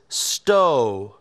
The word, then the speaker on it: stove: Nope, it's not sta because there's a silent E on the end, and silent E makes the O say its name. So it's stove.